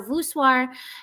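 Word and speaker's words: voussoir: it again um vwar so vwar and they don't spell It the French way they spell it v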